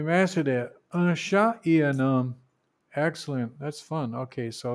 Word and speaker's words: un homme: Un homme. They pronounce that N. Un. So like a linking N, I guess they call that.